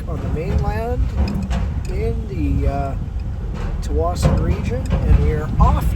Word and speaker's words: Tsawwassen: Here's the terminal there, quite small compared to Tsawwassen, or Tsawwassen, I guess it's actually pronounced.